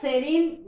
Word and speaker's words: serene: It is a 2-syllable word. Here the last letter E is a silent.